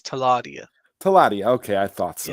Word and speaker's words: Teladia: Okay, so the pronunciation for my name is Taladia.